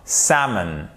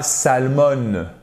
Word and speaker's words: salmon: porteur de l'accent tonique ce qui nous donnera Sam et pas salmon non c'est pas salmon c'est ça et c'est là vous